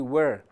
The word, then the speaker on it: were: Então, no inglês americano, costuma-se marcar mais a letra A de was e o R de were. Já no inglês britânico, as de was é mais sutil. A letra R de were também não é pronunciada.